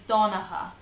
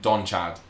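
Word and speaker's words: Donnchadh: So the next one is Donacha. Donacha. Not Don Chad or Don Chadach.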